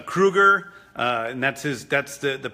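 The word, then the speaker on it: Krugarr: It's Kruger, and that's the pronunciation of that character's name, who's a sort of sorcerer from another planet.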